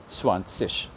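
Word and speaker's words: zwanzig: IG as Ish. Sounds weird, sounds strange, but that's how it is pronounced. So Swanzisch is the pure German pronunciation.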